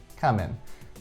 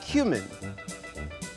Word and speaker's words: cumin: lines, like pronouncing cumin "camin" and shouting out "prostitution horses" in reference to Teresa Giudice's famous table flip line, "prostitution whore." Coming. Oh, you mean cumin? Coming. Yeah, it's pronounced cumin.